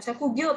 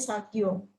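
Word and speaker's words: 作業: Bacanya bukan sakugyo tapi sagyo.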